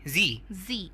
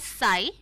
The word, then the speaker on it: Sie: हाँ, और दोस्तों उसको हम लिखते हैं SIE, तो वी डू not pronounce it एज साई, बट वो सी है, जी है, जी सिनेमा वाला जी है।